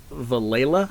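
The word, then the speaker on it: Villella: Yeah, that actor, Michael Vallela, I think is how you pronounce it.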